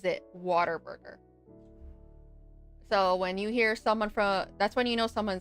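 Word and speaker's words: Whataburger: Maybe it's just an accent thing of water burger. Yeah. What a burger. But pronounce it waterburger.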